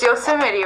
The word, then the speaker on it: Yosemite: do a camping trip to yosemite yosemite it's yosemite right but it's spelt yosemite just couldn't take work off are